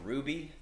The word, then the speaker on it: RWBY: officially start what we're calling ruby pronounce it red white blue yellow we got mikey we